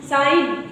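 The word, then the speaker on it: sign: आई जी ए रिजाइन साइन साइन की spelling क्या लिखते हो सिगनेचर जिसे बोलते हो साइन एस आई जी एन एन के पहले जी आया है एन के पहले जी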